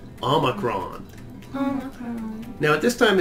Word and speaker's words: omicron: This one that looks like our O, Omicron, is for off.